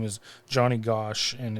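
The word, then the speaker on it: Gosch: So his name is Johnny Gosh and it's spelled G O S C H.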